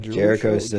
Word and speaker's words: Jericho Sims: Jericho Sims. Jericho Sims, okay.